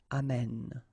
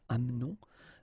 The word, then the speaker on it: amène: only the accent here, accent grave on the top of this okay? And then it will change, of course, the pronunciation, because you will have this sound open, amène, okay? Amène, tu amènes, il amène. Nous doesn't change, nous amenons, okay, it's a silent here, mute, amenons. Vous amenez, exactly the same thing, you don't pronounce this and then here back this change, so amène.